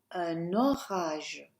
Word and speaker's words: un orage: Connect that N. Il y a un orage.